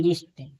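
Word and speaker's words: wrist: जब डब्ल्यू के बाद आर ओ आए तो डब्ल्यू साइलेंट होता है।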